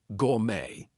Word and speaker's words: gourmet: So, things like ballet, gourmet, we are not going to pronounce the T there.